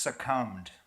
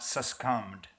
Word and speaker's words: succumbed: way to conduct yourselves it's pronounced succumbed not susum I just want to